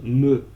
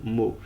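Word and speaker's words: Mø: pseudo c'est juste ça c'est écrit M avec le O barré et ça se prononce me et non Mo ce qui fait très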